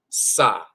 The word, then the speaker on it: Sah: That's the H sound. So that's S-A-H, Sa. Sometimes it's Sa, sometimes it's spelled Sahu.